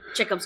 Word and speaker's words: Chekhov: There's no, like in some points you almost think of it as Chekhov's gun. Is that how it's pronounced? Yeah, Chekhov's gun.